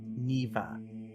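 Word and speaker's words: Niamh: her the name is neva that's how you would pronounce it that is not how it looks like it is spelled it is spelled n-i-a-m-h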